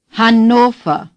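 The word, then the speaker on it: Hannover: per se ha NOFA the a is like in Hamburg Han say Han Hyo is clear and lon oh the are at the end of a German word is hardly pronounced at all the V is pronounced like F alpha say alpha say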